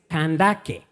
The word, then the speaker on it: Kandake: But apparently, the original form of this name, Candace, the original pronunciation is Kandake. And Kandake were the name of the queens of Nubia, kind of like Queen Amanirenas.